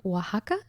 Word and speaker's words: Oaxaca: made some chilaquiles today with some queso the oaxaca yes okay now the reason i said it